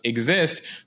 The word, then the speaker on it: XIST: of this molecule exist which is x i but pronounced exist could lead to some